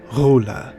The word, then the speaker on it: Ghola: Ghola is how it's pronounced in Arabic, to describe a female jinn.